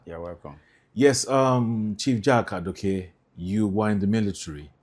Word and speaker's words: Adokiye: So I have Chief Jack Adokiye or Adokiye. What is the correct pronunciation Adokiye.